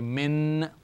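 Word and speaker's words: مِن: this noon has nothing so it's Min I n so it's the same letter noon this one is joined together with this because it is doesn't have a vowel the two of them pronounce together so you say Min the yah has no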